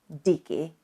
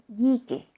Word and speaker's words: díky: And therefore, the word thanks, díky, is not pronounced díky, but díky.